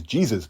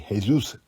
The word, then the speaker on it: Jesus: by my wife or kept pronouncing his name is jesus but it wasn't it's actually jesus ruiz now ruiz zero wins 10 losses only have stopped once back in 2017.